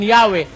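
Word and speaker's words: Yahweh: inyo Sabi nila rito while inclining to view the pronunciation yahwe as the more correct way since 14 century Dito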